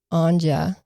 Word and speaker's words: Anja: Now, Seppo and Anja, you have to pronounce the J, also rode out there on Seppo's motorcycle.